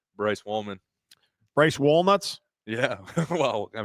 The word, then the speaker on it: Wallman: Well, Like woman, but with 2 L's. Hold on. That's how you say it? Wallman. Wallman. Wallman. Yeah. Wallman. Yeah, like wall and man.